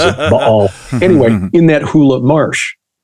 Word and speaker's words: Baal: I only say it that way so scholars know that I know that that's how you're supposed to pronounce it, Baal.